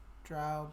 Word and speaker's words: drow: Drow like cow.